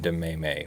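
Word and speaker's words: Demesme: of Louisiana versus warand amaze me or I'd like to think that the S is silent and we call him Warren de Meimei what do you think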